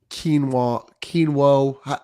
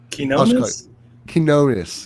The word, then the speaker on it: Quinones: You got Trey Alexander, you got Fears, Hunter, Quinoa. I can't pronounce his last name. I'm sorry, Lester. Quinones, yes.